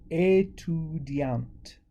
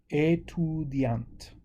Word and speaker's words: étudiante: So because we're adding another vowel at the end with the female form, we can pronounce the T.